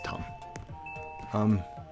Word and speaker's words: Tom: A lot of people will pronounce his name Thom, like Thomas. It's not right. It's Tom.